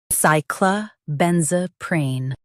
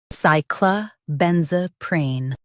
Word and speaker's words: cyclobenzaprine: Focus on ben and keep z smooth. Cyclobenzaprine.